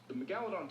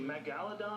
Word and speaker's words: Megalodon: Is it Megalodon or Megalodon? How do you say it? It depends. Your emphasis can be on a different syllable. Okay. It's both.